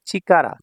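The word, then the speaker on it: 力: দেখুন 40 নাম্বার কাঞজি এটা হল চিকারা চিকারা পাওয়ার বল বা শক্তি এটাকে আবার রিয়কু বলা হয় রিয়কু তো যখন এটা সিঙ্গেল থাকবে সিঙ্গেল থাকবে তখন হবে চিকারা চিকারা অর্থ শক্তি বা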